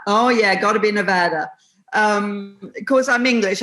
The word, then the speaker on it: Nevada: Oh yeah, got to be Nevada. Of course, I'm English. I want to say Nevada, but I keep reminding myself, no, it's got to be Nevada.